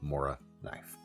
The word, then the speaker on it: Morakniv: Whether you call it a Mora knife, or my best attempt at the phonetically more correct Moraknif, a Mora is an absolutely iconic budget knife.